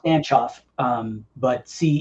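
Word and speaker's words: Stancioff: It's like Bulgarian.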